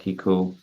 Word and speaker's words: Keiko: through your link and that way it'll help Kiku am I pronouncing your name right yes yeah uh and